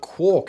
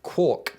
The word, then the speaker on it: quark: murray gail mann and originally rhymed with mark over the years however the word evolved and is today pronounced more like cork quark more close to the